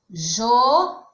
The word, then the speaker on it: João: Por exemplo, João é uma oxítona, porque a sílaba mais forte é a última.